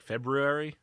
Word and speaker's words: February: trouble with that because my mouth doesn't want to make that r like February. Feb. I always want to pronounce the R because everyone says February and it pisses me off because it's wrong.